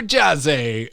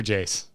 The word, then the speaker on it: Jace: Super Jazzy, or wait, rhymes with space? Super Jace. Yeah. Super Jace writes in, I like, I just want to say Jazzy now because it's fun to say.